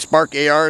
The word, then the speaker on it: Spark AR: it's a vortex ar uh spark all right spark ar is how you say it but it is